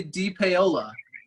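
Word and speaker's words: DePaola: oh yeah de peola it's literally like you pronounce each individual i've never tried it right it's it's literally yeah it's literally d paola yes did i say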